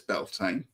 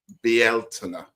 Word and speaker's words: Beltane: Well, everyone says Belain. That's fine. It's now being claimed to be more Celtic as Belina. Okay. So, I'm going to try that one. You know, like to try and improve things. So, be out and know, but Belain works just the same.